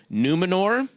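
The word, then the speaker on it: Númenor: Your character is from the island kingdom of Numenor. Well pronounced. Did I you could pronounce put a that little right? R on the end. Numenor. Numenor.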